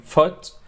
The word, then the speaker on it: foot: So, في double O words ولكن pronounced اللي هو زي food لكن foot. Alright, it's short vowel which is foot, good, look, book, swoosh and stood.